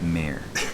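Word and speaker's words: mare: laughs mayor yes you keep pronouncing it Mar but it's mayor that's funny you used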